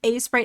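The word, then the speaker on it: Aseprite: I think A-Sprite is how I've heard most people pronounce it, to be perfectly honest. And then I come in, guns a-blazing, and I'm like, Sprite!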